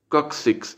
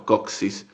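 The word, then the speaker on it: coccyx: y del griego y se pronuncia cóccix kuksiks no como le decimos nosotros coxis se pronuncia kuksiks con six coca six cox six es un poco raro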